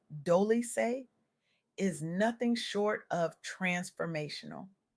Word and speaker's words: Dolce: What she shared with me during our conversation on the soft girl era podcast hosted by Dolce, pronounced Doly is nothing short of transformational.